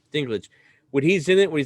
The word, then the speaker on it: Dinklage: thrones yeah how do you say his name dinklage dinklage when he's in it where he said you